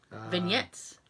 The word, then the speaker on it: vignettes: Vignettes. Vignettes, because I'm ready to say, like, put a hard G on the G. Don't put a G on the G. Put a N.